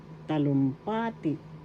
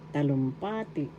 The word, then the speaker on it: talumpati: speech oration or declamation talumpati first syllable ta second syllable lum third syllable pa and fourth syllable t talumpati the third syllable has the action talumpati talumpati that's speech or eration